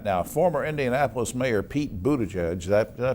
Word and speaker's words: Buttigieg: Now, former Indianapolis Mayor Pete Buttigieg, did I pronounce that okay?